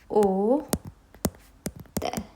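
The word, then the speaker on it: hôtel: How are we going to pronounce it? O tel. As we know, H is silent and we are going to pronounce CRFL at end.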